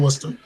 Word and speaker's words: Worcester: Oh yeah, it's like Worcestershire, but it's like it's Worcester. Yeah. My ex-wife is from Worcester.